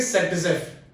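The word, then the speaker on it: Zaitsev: तो यहाँ पे इस चैप्टर के अकॉर्डिंग हम बात करें तो यहाँ पे एक साइंटिस्ट है ना, साइंटिस्ट जिसको हम अलेक्जेंडर ज़ेटसेव था बट प्रोनाउंस करेंगे सेटजेफ।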